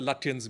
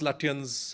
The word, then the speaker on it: Lutyens: they call disparagingly the Lutyens media. And they will mispronounce Lutyens as Lutyens and make a very poor pun to say that these are all looters.